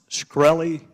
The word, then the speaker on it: Shkreli: chairman is it pronounced shkreli yes sir see there you can answer some